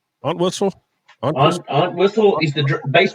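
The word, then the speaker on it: Entwistle: Aunt Whistle.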